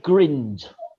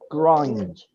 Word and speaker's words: grind: paper the daily grind just not grinned grind it it rhymes with mind you know we have a mind am indeed so daily